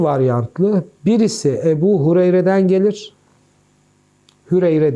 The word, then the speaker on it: Hureyre: birisi Ebu Hureyre'den gelir hüreyre diyelim Evet doğru telaffuz edelim biri Ebu Hureyre'den gelir